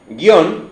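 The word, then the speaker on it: guion: por ejemplo guión cierto guión es una palabra que se llamaba acento en la o inicialmente y la gente si la pronuncia monosilábicamente dice guión no es por qué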